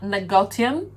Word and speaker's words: Negotium: i love it um the right pronunciation is nagotyam however i spell